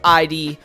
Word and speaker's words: id Software: my top 10 is ID, or id Software, however you want to pronounce it. Pretty sure it's pronounced id, but I like to say ID.